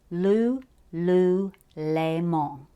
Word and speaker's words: Louis Vuitton: wear it then at least know how to pronounce it it's l l Leon yeah I just I just learned that because